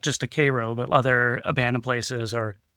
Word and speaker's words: Cairo: Uh, but yeah, jumping out of the car and shooting the shot for Gem Theater from they call it Cairo, but it's spelled Cairo.